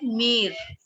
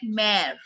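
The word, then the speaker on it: mère: We don't call it mere. We call it mare.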